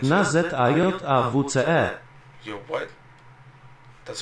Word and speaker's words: Na Zajawce: And the name of the song is called Na Chaga. I hope I'm pronouncing it right.